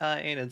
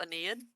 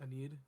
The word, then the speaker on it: Aeneid: I was like, I wonder what Enid stands for. I had a feeling with It's actually Virgil. pronounced Aeneid. Thank you, Em. Aeneid. Aeneid.